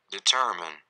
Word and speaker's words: determine: Kata ini mungkin masih ada yang mengucapkan determine, padahal dalam bahasa Inggris, kalau kita pakai bahasa Inggris ini harusnya diucapkan determine, determine.